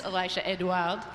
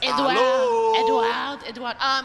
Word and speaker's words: Elisha Edouard: This is Elisha Edouard. Hello, Did I say it right? Yes. Edouard.